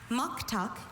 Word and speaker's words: muktuk: Muktuk. Uh, can I have all your information? Muktuk is the only pronunciation here.